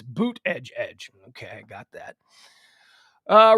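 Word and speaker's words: Buttigieg: me out with the pronunciation of pete buddhij he says it's boot edge edge okay i got that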